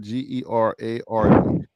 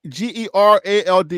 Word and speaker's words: Gerald: r a l d is that Gerard Gerald or J Gerard it's Gerald right Gerald g g e r a l d is Gerald right yes that's how I would pronounce it okay so Gerald my bad Gerald Gerald d Gerald D said like Gerald Ford okay okay Geral Ford